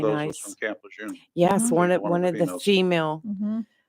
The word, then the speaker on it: Lejeune: Camp Lejeune. Yes, Mhm. one One of of one the of the females. female Mm-hmm. Marines was from Camp Lejeune. Camp Lejeune. It's Camp Lejeune.